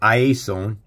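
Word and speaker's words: Iēsous: The proper pronunciation, and they've changed this. This is Iesos. It's spelt S-O-U-S.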